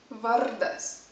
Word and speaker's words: vardas: is would koks tavo vardas the r notice that again a rolling r always a rolling r